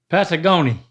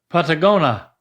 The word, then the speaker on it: Patagonia: Patag- Patagonia There's an I in there before that last A. Mhm. Patagonia Do you see that I af- n i a Patagoni What?